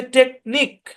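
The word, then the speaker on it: technique: এই বরাবর ভাগ হবে প্রথম অংশের উচ্চারণ টেক পরের অংশের উচ্চারণ নিক কিউ ইউ এবং ই সাইলেন্ট বুঝছেন সম্পূর্ণ শব্দের উচ্চারণ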